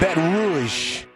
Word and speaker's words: Baton Rouge: That's how they say it, Baton Rouge.